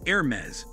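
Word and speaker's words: Hermès: Therefore, when you pronounce Hermes, you sure to go as French as you possibly can. The correct pronunciation is Air-mez, according to International Business times.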